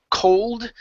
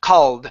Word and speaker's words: called: between because if you say cold that means it's cold outside it's it's very the temperature is low but if you say kaha old with an ah sound then it's the verb to call ok so it's called